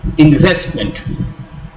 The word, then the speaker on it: investment: The primary accent is usually on the second syllable in 3-syllable words that are formed by a prefix, root, suffix. For example, investment.